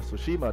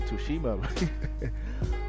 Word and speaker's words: Tsushima: Tsushima, the T is silent. I used to say Tsushima.